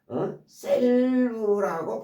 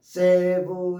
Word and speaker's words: salve: 근데 이 L이 발음이 되기도 하고 안 되기도 해요. 그냥 save라고도 하고 save라고도 하고 save라고도 하고 뭐 selve라고 발음이 되기도 해요. 또 그러니까 save, save, sell 다 쓰여요.